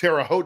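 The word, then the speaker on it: Terre Haute: broke it up we spent the night in Tera hot yes terot did I pronounce that right yes yes Indiana nice stay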